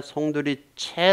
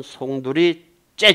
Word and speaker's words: 송두리째: 뭐 송두리채 날라 같아요 이때 송두리 체 라고 발음하지 마늘 슥 이론은 송두리 째 줘 쌍 지어 새 아이 째 송두리째 통채로 삼켜 버렸다 고 통체로